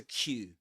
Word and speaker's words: queue: So, going back to Q, the the letter the word Q, which is pronounced just like the letter Q.